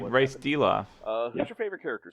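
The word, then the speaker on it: Dilaf: Deloff? That's how I Yes. always pronounce it.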